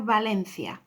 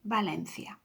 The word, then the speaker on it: Valencia: but another rule was the letter V is pronounced the same as a B. So Barcelona, and then we have Valencia, exactly the same, Barcelona, Valencia.